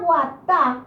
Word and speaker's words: guatá: La palabra guatá, la raíz de la palabra, es más fuerte en la última vocal, la sílaba tónica.